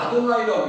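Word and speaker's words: יהוה: 그것은 그 히브리인들은 다 아도나이라고 읽어요.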